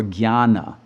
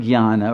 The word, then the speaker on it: jnana: level of knowledge, or jnana. And the word jnana, or jnana, it actually is a G-N-Y-A-N-A, if you pronounce it accurately.